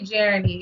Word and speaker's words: Jeranie: Yes, my YouTube name is literally Jeranie. It's spelled, and then Jeranie, Jeranie.